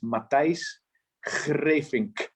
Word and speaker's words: Matthijs Greevink: You know, I'll try to pronounce it how we pronounce it in Holland. It's Matthijs Greevink. Okay, let me try. Yeah. Matthijs Greevink. Yes, really good, really good. Yeah. Yeah, we have really hard letters, the G, the R, the K, they're really hard to pronounce, but anyway.